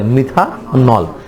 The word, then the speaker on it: মিথানল: নামের শেষে যুক্ত হবে অল। উচ্চারণ হবে কি? নল।